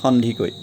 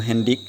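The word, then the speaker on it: Handique: Now the novel Abhijatri is based on Aidu Handikoi. That is Aidu Hendik. So in Assamese pronunciation is Handikoi.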